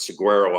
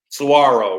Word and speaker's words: saguaro: an inside linebacker at Saguaro High School in Arizona. So, didn't you go to Saguaro? Yes, and we Arizonans pronounce it saguaro. Saguaro, right?